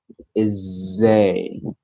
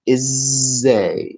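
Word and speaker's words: إزيك: How, which is they, is they. And please notice that there is a double sound. Okay, is they. It's z too.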